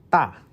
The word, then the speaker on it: 大: 大大大.